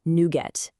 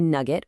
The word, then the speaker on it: NuGet: It's pronounced nuette. You know, like how you get new code for your project. A lot of people say Nugget, which is totally understandable, but now you know the inside scoop.